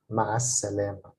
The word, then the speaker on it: مع السلامة: By the way, when the letter sin, s, is following L, the lam, the L sound is not pronounced. So it's pronounced more like مع السلامة. مع السلامة.